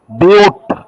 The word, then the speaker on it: but: C1, ইথ, C2, prop, C3, বিউট, বাট না, বিউট, C4, paint, C5, হেক্স, C6।